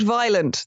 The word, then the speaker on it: Violent: She is called Violent. The N is silent.